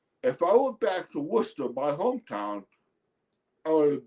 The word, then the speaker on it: Worcester: First of all, uh the town he's from is from Worcester. It's pron it's pronounced Worcester. It's spelled W O R C T R. It's one of those weird English pronunciations.